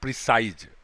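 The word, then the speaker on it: precise: लेकिन अगर इसमें ई जोड़ देंगे तब इसका मतलब हो गया प्रिसाइज। प्रोनाउंसिएशन में भी डिफरेंस है, प्रेसिस, और इसका हो गया प्रिसाइज।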